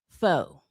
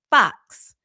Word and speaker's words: faux: And listen, I understand that f a ux is pronounced foe. So, it would actually be pronounced folksy brown, I guess, right? But I also understand that there are people who pronounce f aux as fox because I have heard some of you say